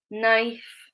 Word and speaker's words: knife: they have an N, the K is always silent. We pronounce it with an N sound, the N at the beginning.